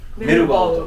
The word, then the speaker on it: 太平洋鉄木: いうのを漢字で書くと、太平洋の鉄の木、太平洋鉄の木、太平洋鉄木と書いてメルバウと、当て字で